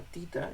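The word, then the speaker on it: theta: Este se llama tita, y se escribe teta con TH.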